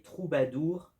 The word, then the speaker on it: trobador: qu'on va avoir les troubadours. Et donc les troubadours, en fait ça vient de l'occitant trobador mais prononcé troubadou et qui veut dire